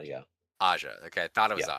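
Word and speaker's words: Ajah: How do you pronounce that? Aja. Yeah, Aja.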